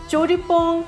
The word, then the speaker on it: Pong: In English, people pronounce it as Jolly Pong, but it's Pong.